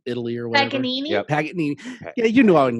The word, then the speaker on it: Paganini: Well, he definitely borrowed a lot from what Pangini, yeah. the very famous clown from Italy or whatever. Paganini? Yep. Paganini.